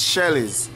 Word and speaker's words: Shellies: it h Shel s is it pronounced s or shellies so guys it's shellies once you type in